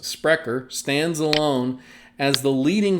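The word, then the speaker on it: Sprecher: of ice and a disrupter par excellence sprecker pronounced sprecker stands alone as the leading force in modernizing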